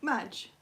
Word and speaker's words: Madge: Madge. Like the start of magic.